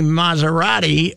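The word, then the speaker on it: Massarotti: And my pal Tony Maserati, who is a... it's spelled like the car? No, it's SS, but it's Maz.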